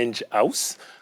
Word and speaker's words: Enghouse: relation client est d'ailleurs voulait bien prononcés ont dit à angie house comme house parce que c'est un